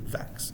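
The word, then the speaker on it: Vachss: the very first one is flood by andrew vaxx v-a-c-h-s-s pronounced a rhyme with tax andrew and coming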